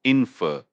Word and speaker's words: infer: Let's break down the word infer itself. It's pronounced infer. The emphasis is on the second syllable.